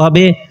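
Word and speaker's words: ه: তা আমরা শুনি কিভাবে পার্থক্য হবে। একটি হলো হা, আরেকটি হলো হা। প্রথম হা যেটি, সেটা হলো কণ্ঠনালীর শুরু থেকে। দ্বিতীয় যে হা, সেটি উচ্চারণ হবে কণ্ঠনালীর মধ্যবর্তী স্থান থেকে।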